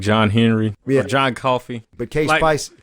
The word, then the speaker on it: Coffey: Or John Coffey. But K-Spice... Like the soda not spelled the same.